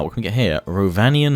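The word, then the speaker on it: Rhovanion: Rovanian hunters, Rovanian spearmen, and Rovanian rider. Roll your R's.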